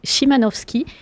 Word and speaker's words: Szymanowski: L'invité a très bien fait de me reprendre sur la prononciation du nom, qui est donc Szymanowski, parce que, vous le